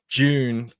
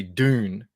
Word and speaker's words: Dune: We were talking yesterday about how you can't differentiate the word June, the month, and June, how I pronounce it, the movie. You guys would say Dune. We say June like it's with a J.